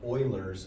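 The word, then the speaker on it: Euler: related to one another this is called Oilers formula if you are mispronouncing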